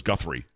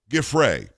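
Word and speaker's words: Giuffre: I think she says Guthrie when she talks about it here, but it's um Grey.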